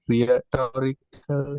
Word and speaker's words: rhetorical: Rhetorical. How do I pronounce? Rhetorical. You don't need to sound H.